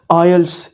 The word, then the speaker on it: IELTS: आइल्स की प्रोनंसिएशन के बारे में बात करें तो इसकी प्रॉपर और सही प्रोनंसिएशन है आइल्स, यानी कि टी इसमें साइलेंट है दोस्तों, उसको आपने बिल्कुल भी प्रोनाउंस नहीं करना है।